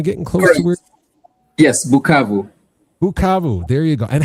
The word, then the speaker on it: Bukavu: Yes, Bukavu.